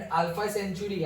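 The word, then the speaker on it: Alpha Centauri: spacecraft है capsule and अल्फा सेंचुरी अल्फा सेंचुरी word देखना ध्यान से अल्फा सेंट ग नहीं स्पेलिंग सही है प्रोनाउंस गलत है ओके तो पढ़ेंगे हम अल्फा सेंचुरी लेकिन लिखेंगे ऐसे ओके सो अल्फा सेंचुरी क्या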